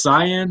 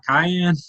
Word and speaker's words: cyan: It's pronounced cyan, not cayenne. Like. Cayenne's the pepper, man.